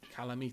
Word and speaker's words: Kalameet: Kalameet, that's how you say it.